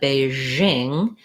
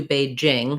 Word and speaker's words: Beijing: a long time um in english people said beijing that's not really correct it's closer to beijing now that might not